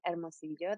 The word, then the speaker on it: Hermosillo: Yeah, so I'm originally from Hermosillo, that you pronounce very well.